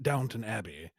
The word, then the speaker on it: Downton Abbey: Well, knowing all I know about Downton Abbey is that you pronounce it Downton Abbey because it's British. I prefer Downtown. I prefer Downtown Abbey.